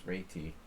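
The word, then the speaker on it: Réti: secret weapon against the retti the the proper pronunciation is reiki the reity sucks man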